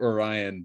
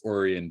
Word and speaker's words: Orion: Spelled like Orion, but it's Orion because I don't know.